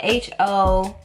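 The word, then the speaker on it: Hoʻoponopono: So it's spelled exactly how it sounds. So it's like Ho'oponopono, apostrophe O-P-O-N-O-N-O or something like that.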